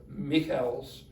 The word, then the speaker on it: Michels: Robert, first name Robert, because he's German, but spelled the same as Robert. Michels.